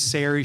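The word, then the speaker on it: Sari: My name is Siri Shakra. Uh, pronunciation is key. I tell everyone it's Gary with an S.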